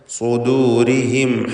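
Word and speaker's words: صدورهم: സുദൂരിഹിം എന്ന പദം ശ്രദ്ധിക്കുക. സ്വാദിന് മാത്രമാണ് തഫ്ഖീം കൊടുക്കേണ്ടത്. ശേഷം ദാല് തർക്കീഖിൻ്റെ അക്ഷരമാണ്. ഇവിടെ ദു എന്നത് ദൂന്ന് ത്വാദ് പോലെ ആയി പോകുന്നത് വളരെ സാധ്യതയുള്ളൊരു കാര്യമാണ്, സൂക്ഷിക്കേണ്ടതാണ്, തെറ്റാണ്.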